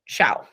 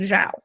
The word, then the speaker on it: Xiao: So I have a coworker and his name is spelled Xiao. And I had been pronouncing it Xiao because that's what I remembered him telling me when we first met, like Xiao. Okay, great. But I kept hearing people in meetings saying Zhao.